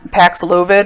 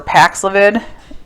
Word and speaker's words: Paxlovid: some new data on pax lovid or pax lavid the way i like to pronounce it um this medication had